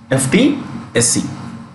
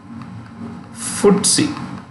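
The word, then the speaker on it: FTSE: london stock exchange the index is called ftsc ft sc fdsc first point pronounced pronounced pronouns footsie pronounced footsie that's how it is pronounced it's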